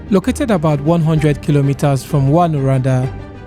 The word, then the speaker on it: Rouyn-Noranda: What's the actual pronunciation of the city Rouyn-Noranda. of Val-d'Or? Rouyn-Noranda. Rouyn-Noranda.